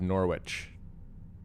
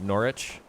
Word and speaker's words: Norwich: Fiona says the W is silent.